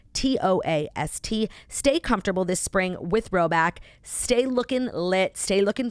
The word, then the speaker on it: Rhoback: Roback is amazing.